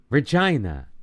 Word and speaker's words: Regina: Regina. I remember because it's pronounced like vagina.